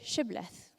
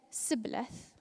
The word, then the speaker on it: Shibboleth: If he replied, "No," they said, "All right, say Shibboleth." If he said Sibboleth, because he could not pronounce the word correctly, they seized him and killed him at the fords of the Jordan.